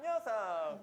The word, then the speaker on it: Yeosang: pronounce their names. Hi, my name is Seonghwa. My name is Hongjoong. And Yunho. And Yeosang.